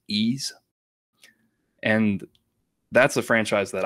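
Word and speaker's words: Ys: nine it looks like it looks like wise but it's pronounced ease and that's a franchise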